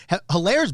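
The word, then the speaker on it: Helaire: will be doing what hilaire is doing right now or alair the h is silent apparently so he's not a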